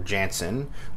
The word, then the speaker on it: Janson: Ron frenz and Klaus Janson or Janssen depending on your pronunciation amazing spider-man number 33